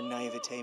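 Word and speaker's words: naïveté: I am sure her naivete must cause you difficulty at times, but I hope that you can work well with her. Oh, that's how you say it? Naivete?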